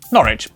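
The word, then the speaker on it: Norwich: w at the start of the final syllable is silent noric Beric s e is pronounced R way too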